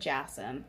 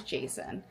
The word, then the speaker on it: Jason: First off, um Jason, which is I said Jassen, I think previously, but his name is Jason, actually. That's how you pronounce it.